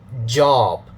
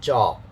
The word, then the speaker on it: job: So you have to use your voice here. J, okay, it's actually job, not job, okay?